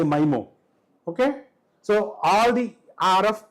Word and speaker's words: MIMO: And the best case, MIMO or MIMO. How do you say that? I say MIMO.